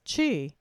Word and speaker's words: Qi: in acupuncture the Chinese call this life force Chi and in Japan it is also called Chi but it is spelled Qi as in Chiang in Hawaii it